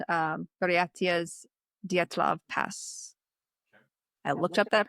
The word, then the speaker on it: Dyatlov: Um what has been called um Datlav Pass. I looked up that pronunciation.